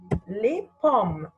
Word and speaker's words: les pommes: Les pommes. Les pommes. Les pommes. Les pommes. What is the silent letter here? S. S is silent.